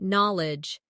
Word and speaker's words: knowledge: Next try knowledge. It sounds like null edge but is spelled k n o w l e d g e.